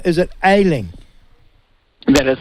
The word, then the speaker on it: Ayling: Now, just help me, Jonathan, if I get your name wrong. Is it Ayling?